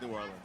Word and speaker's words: New Orleans: I have to say it like that because it rhymed. I'm from here. It's New Orleans.